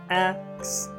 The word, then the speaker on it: axe: Then axe, axe, the axe. The last sound is silent. We do not pronounce it, so we have axe.